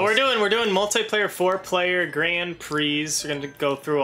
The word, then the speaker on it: Prix: But we're doing multiplayer, four-player Grand Prix. We're going to go through all these. That's how you pronounce that? Yeah, Prix. Are you serious? I used to pronounce it as Pricks.